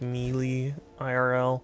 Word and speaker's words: melee: I think some people pronounce melee like me IRL.